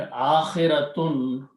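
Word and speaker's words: آخرة: So the word is akhiratun is the actual word. Okay, when you stop, you say akhirat.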